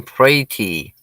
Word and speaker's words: Praty: uh this uh larry larry says pronounce my name pray tea well good morning larry